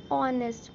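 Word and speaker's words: honest: तो एन ऑनेस्ट, ओ आ रहा है और ओ is your vowel, that's why we will put एन.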